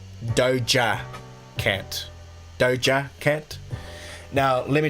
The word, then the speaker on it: Doja Cat: DOA cat I'm saying DOA can't but apparently it's supposed to be Doja cat Doja cat now let